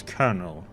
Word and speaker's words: colonel: It really annoys me how they spell colonel, but you pronounce it as colonel.